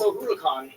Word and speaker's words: O'Hulacan: It's O'Hulacan. It's Gaelic.